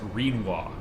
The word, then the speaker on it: Renoir: And by the way, the name's pronounced Renoir.